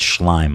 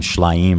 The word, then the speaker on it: Schleim: It's Schleim. Avi Schleim. He was calling him Schleim or something.